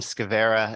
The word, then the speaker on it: Skowera: So Scavera, SKOWERA, and it would be at ct.gov. Okay. I'm a legislative liaison for DPH. Thank you so much. Right. And so the W is pronounced like a V.